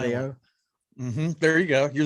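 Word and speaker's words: Hélio: I think I just screwed it up. Julio? The H is silent. Helio?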